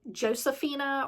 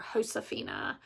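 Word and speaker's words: Josefina: the next prompt is I've heard this pronounced two different ways so Josephina or hoshina I've heard it pronounced both ways so however you say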